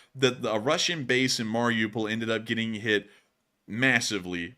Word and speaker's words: Mariupol: But anyways, moving on down into Mariupol, we got to hear today that a Russian base in Mariupol ended up getting hit massively by an ATACMS attack.